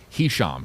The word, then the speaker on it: Hisham: Hisham is the first name. It is spelled H I S H A M.